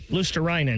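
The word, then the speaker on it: Luostarinen: Uh, Baker, you're going to have to help me with the pronunciation here. Um, Panthers forward Itu Lusterinan. Luststerinan.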